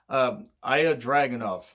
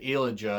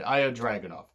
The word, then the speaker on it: Ilya Dragunov: Cesaro's in NXT UK, and it's Ilya Dragunov. If I mispronounced that, I do apologize. I really do. I almost said Ilja, and I'm like, no, that's not right. Ilya Dragunov.